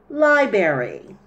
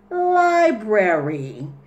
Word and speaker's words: library: this word as library the correct word is library there is an AR library library it's a place